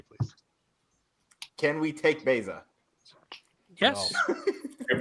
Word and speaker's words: Baeza: Can we take Beza? Yes. You pronounce it right.